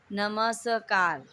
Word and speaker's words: नमस्कार: कृपा लिखा है कृपा, कृपा, नमस्कार, नमस्कार, नमस्कार, इसको ऐसे पढ़ते हैं, लेकिन जब हम लिखते हैं तो आधा स लिखते हैं, नमस्कार।